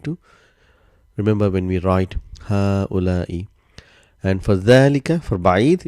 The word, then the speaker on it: هؤلاء: So if you see what I'm saying, there's only sign of single fatha here. There's no mad, but how we pronounce هؤلاء. Same like hada. Originally there was alif here, a mad, but that has been omitted.